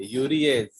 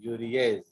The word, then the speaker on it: urease: Always ASC है ना, उसको आप एज प्रोनाउंस करेंगे, यूरिएज. All enzymes will have as. ठीक है. तो उसको आप कैसे प्रोनाउंस करेंगे? एज. तो इसलिए यूरिया को तोड़ेगा कौन? यूरिएज.